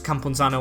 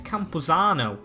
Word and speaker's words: Campuzano: right, that's good, because Campunzano might be straight back into the team, to be fair. And I've also realised, I think I'm saying his name wrong, it's Campuzano, as I want to get this guy in.